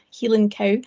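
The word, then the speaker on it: Heilan coo: professional so this is a highland cow or healing cow and as you might hear us pronounce over in scotland and as you may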